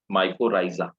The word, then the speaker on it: mycorrhizae: Mycorrhiza, right? We write mycorrhizae, but we pronounce it mycorrhiza.